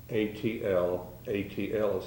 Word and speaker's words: atlatl: know something about and that's the adult adult atl atl is how that's spelled that's pronounced atlatl uh i'd like to